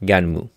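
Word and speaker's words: Gunnm: And yeah, apparently it's pronounced Ganmu.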